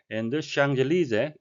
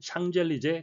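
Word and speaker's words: Champs-Élysées: famous이 유명한 거리를 따라 샹젤리제 여러분이 잘 아시는 프랑스 거리의 이름인데요 피는 발음되지 않았고요 s는 뒤쪽과 여름이 돼서 샹젤리즈라고 발음이 되겠습니다 보시는 것은 개선문을 포함한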